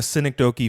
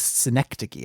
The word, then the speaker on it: synecdoche: sort of like a synecdoche for virginia is that how it's pronounced i think it was synecdoche i think you got it but you uh put the stress wrong but i used the